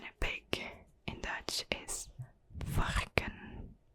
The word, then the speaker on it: varken: And a pig in Dutch is varken. Varken.